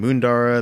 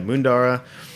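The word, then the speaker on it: Moondarra: Ros by the glass from a producer named mundara they're in Victoria spell it for me cuz we m o o n d a r r a i I'll double check it yeah mundara it's a bodnam IC uh grower they cultivate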